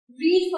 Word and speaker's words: read: नाउ I have said रीड first form है, but spelling same है लेकिन pronunciation है रेड.